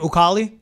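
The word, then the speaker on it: Ekuale: Aquale?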